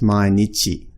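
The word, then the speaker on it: 毎日: remembered a is that symbol this is actually pronounced Mainichi so the same as Nietzsche you'll be the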